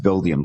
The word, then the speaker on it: Buildium: VP customer success and support is the company pronounced bill diem did I say that right yes you did